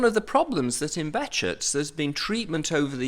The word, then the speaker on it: Behçet: is a relatively common name in Turkey it's pronounced that way so that's why we say betet but you can say bashes or any variation that you like uh and